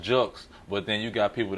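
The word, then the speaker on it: Julkes: I like that yeah I mean yeah it's pronounced jokes but then you got people that say jokes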